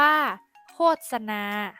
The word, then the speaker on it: โฆษณา: ศิษย์ อ่าน ว่า ลูก ศิษย์ โฆษณา อ่าน ว่า โฆษณา คำ ใน มาตรา ตัว สะกด แม่ กด ที่ มี ส เสือ เป็น